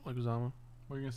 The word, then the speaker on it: Leguizamo: Starring John Leguizamo. Leguizamo. What are you going to say there? Leguizamo. I was going to pronounce it very wrong.